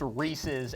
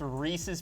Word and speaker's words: Reese's: the intention of handing out the take five Reese's Carlos Michael what if kids come but then she realized she wouldn't be a part by the way it's pronounced Reese's and not Reese's I'm just gonna get on